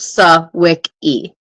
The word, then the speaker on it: Swiki: website right now and it literally says pronounced swick e swii go no sowi